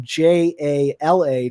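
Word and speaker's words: Jaller: was jala so like none of the pronunciations changed but they all changed spellings and so jala went from j-a-l-a to j-a-l-l-e-r but it's still pronounced jala that's interesting yeah i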